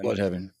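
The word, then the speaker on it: Blüdhaven: By the way, the official pronunciation of Bloodhaven in the DCU is Bloodhaven, which I was really happy about, because I get that it's supposed to look like Bloodhaven, but they have the 2 umlauts. So I like that this because even Titans, like the other DC show, they would call it Bloodhaven. Bloodhaven. But yeah, it's pronounced Bloodhaven.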